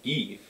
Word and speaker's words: Geef: And it's not Goof, it's spelled with E's. So it's like George G. Geef.